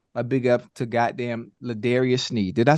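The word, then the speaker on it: L'Jarius Sneed: But I got to give a big up to goddamn Ladarius Sneed. Did I say his name the right way? Yes, Ladarius Sneed.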